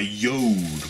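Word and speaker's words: Jord: I'm wearing right here this is called a yo watch J Ord so you know you spell it like that when you say it like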